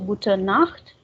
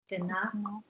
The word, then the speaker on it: Gute Nacht: So here pay attention. Like with Morgen, Tag, and Abend, we are saying Guten, but with Nacht we say Gute only, no N here. So Gute Nacht. Guten Nacht.